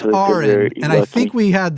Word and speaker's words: Aron: and Erin is there yeah but it is pronounced Arin and I think we had this before so we're gonna just correct this right at the beginning it's Ain not Aaron Ain thank you oh I'm sorry no worries